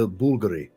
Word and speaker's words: Bulgari: That's why I had to correct myself and say Bulgari. Because some people would be like, that's not how you pronounce it.